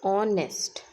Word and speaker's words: honest: HONEST. It is read as honest. Okay, honest. ठीक है. H is silent.